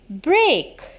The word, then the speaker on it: brake: e a k break so when we said break b r a k e we said break and when we said break b r e a k break so the both sounds same so the meaning of